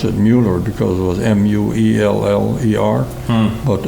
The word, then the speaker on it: Mueller: was married to a Miller actually you would pronounce it Mueller because it was m-u-e-l-l-e-r but everybody said Miller so I never knew no better sure but